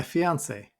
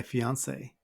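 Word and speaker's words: fiancé: seem fair but actually if you add an extra e to this word it's used for females but the pronunciation is exactly the same okay so I'd like you to meet my fiance could be for a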